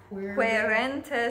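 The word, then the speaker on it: quaerentes: Querentes te. Okay. Yeah, the Q U is qu. A E is E. So like E H, queren.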